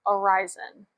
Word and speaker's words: Arizyn: So it is spelled a r i z y n and it's pronounced Aryzen.